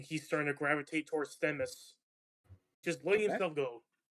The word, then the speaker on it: Themis: I fucking mispronounce this all the time. It's close enough. It is Themis, yeah.